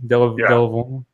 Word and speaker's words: Delevingne: Delvine, yes.